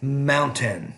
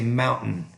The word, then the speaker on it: mountain: In American English, we typically don't pronounce the T. We pronounce it more as what we call glottal stop.